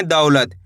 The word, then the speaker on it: दौलत: दौलत। दा पे जोर लगाना है आपको, दौलत।